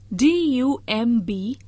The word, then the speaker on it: dumb: due course of time dumb d-u-m-b dumb here b is silent noun speechless gunga dance